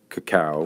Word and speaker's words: cacao: saw how chocolate or how cacao, which would be the correct pronunciation for the fruit, was grown and how